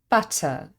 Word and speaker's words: butter: a word for example butter is spelled with Double T but we just say butter it's simply one t sound in the same way